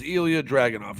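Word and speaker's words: Ilja Dragunov: I'm gonna mess up his name but it's Elia draging off right that's how you say it get used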